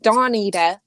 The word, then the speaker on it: Dawnita: So Dawnita, it's Dawn. dawn as in the morning, and then the on the end.